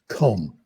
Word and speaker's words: comb: letter is pronounced and the word i give them is com they say well it's silent then i ask them what's the rule five percent have any idea what the rule is that b is silent after m especially at the ends of words so those people get at